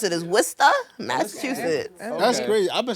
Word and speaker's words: Worcester: Without the the Massachusetts accent, it would be like it's Worister. You know what I mean? W R C S E R. But everybody in Worester says Worester or back, you know,